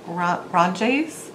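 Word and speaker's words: Randjes: and it is called i'm not sure how to pronounce it it's dutch i believe ron jace it's edges r r-a-n-d-j-e-s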